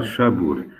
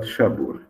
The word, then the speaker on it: Shabur: merchant Safir Isho, and because Shabur was transcribed by some Portuguese texts as Sapor, because the Portuguese could easily pronounce S, S, Esh, Sa, S, Sha.